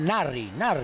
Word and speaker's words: Nasri: dans le foot espagnol, on l'appelle Narri, on l'appelle en espagnol. Hein. La S, ils ne veulent pas prononcer. Et j'imagine, et j'attends, hein, parce que Jovetic, Narri, Nasri et Vasquez, 3 numéro 10 d'excellente qualité technique.